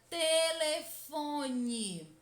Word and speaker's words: telefone: lentamente essa palavra como se estivesse chamando alguém telefone percebam que a sílaba que mais demora a ser pronunciada é